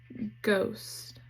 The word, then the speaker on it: ghost: GH, the H is silent. It still says G, like in ghost.